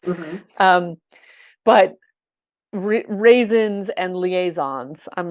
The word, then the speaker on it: liaisons: with Angela Lansbury, um, she didn't say liaisons, she's saying liaisons, what's happened to them, which is the proper way to pronounce the word. Mm-hmm. Got permission from Sondheim to do that. And it's like, sorry, Steve, you put the emphasis on the wrong vowel.